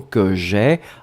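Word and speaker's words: que j'aie: Donc avoir, que nous allons mettre au subjonctif présent, que j'ai, A-I-E. Hein, souvenez-vous, le E, on doit le mettre parce qu'il fait partie de la forme, même si on ne le prononce pas.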